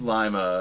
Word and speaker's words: Lima: It's pronounced Lima."